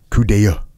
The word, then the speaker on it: coup d'oeil: It looks like coupe d'oeil, but the way you actually say it is coup d'oeil.